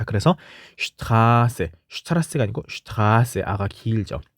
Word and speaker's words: Straße: 자, 모음 뒤에 Sz가 있을 경우는 앞에 있는 모음을 길게 발음하죠. 그래서 Straße, Straße, R을 길게 발음해야 되죠.